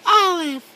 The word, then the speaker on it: aleph: we are going to talk about the letter aleph maggie do you know what the letter olive is yes i know how to pronounce it it's the letter olive and it looks like an x and underneath